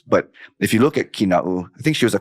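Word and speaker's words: Kīnaʻu: Kinau. I'm gonna get cut off of Kinau. Like, no, it's actually Kina'u.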